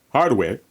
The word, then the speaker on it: hardware: So hardware in English hardware in Spanish. Okay. So in this case the H is not silent.